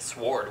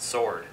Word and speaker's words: sword: i thought about it instead of pronouncing it sward we pronounce it sword instead of saying malicious